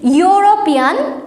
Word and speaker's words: European: European, which pronounced as U.